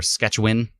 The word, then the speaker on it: Saskatchewan: here um bordon Saskatchewan or sketchin as I've been told you're supposed to pronounce it sketchin we're up to 16,27